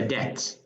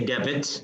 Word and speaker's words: debt: Of course, we do not pronounce the B. It's a debt. Debt. We don't say debit.